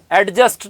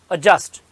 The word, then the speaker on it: adjust: अजस्ट, अजस्ट का phonetic transcription ये है, देखो, डी साइलेंट है, अजस्ट, एडजस्ट नहीं, इट इज अजस्ट, option A, अजस्ट। adjust.